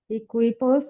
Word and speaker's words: equipos: কু এর পরে উ থেকে তারপরে ই বা এ থাকলে ওইখানে উ এর উচ্চারণ হবে না, তাহলে এটা হবে একিপোস, 10 equipos de béisbol।